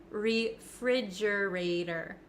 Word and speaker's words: refrigerator: don't think it is listen to how I pronounce it refrigerator refrigerator refrigerator now the ater the T at the end of this word it becomes a flap T in American English that means it kind of sounds like a soft D